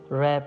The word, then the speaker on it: wrap: Please gift wrap it. Please gift wrap it. रैप में W letters silent है, तो इसे रैप पढ़ेंगे.